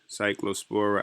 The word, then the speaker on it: Cyclospora: Cyclospora outbreak, Taco Bell cases linked to 4 more states.